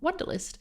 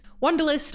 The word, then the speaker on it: Wunderlist: was started in 2018 by the co-founders of Wunderlist, including my guest today, Jan Martin. That's right, folks. We have a co-founder who was also a brand designer, which is very exciting for me. Wunderlist, or I guess I should be pronouncing it